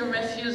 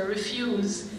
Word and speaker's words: refuse: You can say refuse or you can say refuse.